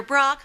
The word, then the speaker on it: Brockhart: 2 syllables in heart. Sing it with me. Dr. Brockhart. You see, it goes up and then down.